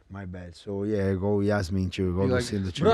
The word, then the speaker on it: Yasmin: Yasmin. I thought it was Yasmin, and I saw someone pronounce it like Asmin, like an I on the. I don't know.